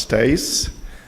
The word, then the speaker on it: Stoesz: no way of knowing my last name is pronounced Stace it no problem it